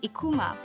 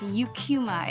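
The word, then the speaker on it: Eucheuma: And I I would hear Japs pronounce the name of the seaweed species as Ikuma. The scientific name is pronounced yukuma in English.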